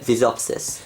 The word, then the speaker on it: Visopsis: It stands for Visual Operating System. Vis for visual, op for operating, and sys for system. Okay. Vis, op, sys. Okay. So that's how you say it, Visopsis.